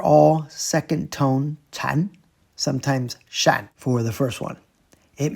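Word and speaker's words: 剎: known as putting brakes on, that would be pronounced sha.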